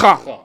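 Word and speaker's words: خ: lui, c'est la lettre Kha. Kha, je vais mettre ce symbole-là. K, H, avec un A grave. C'est juste pour vous dire, ça se prononce ici au niveau de la gorge. Ça fait Kha.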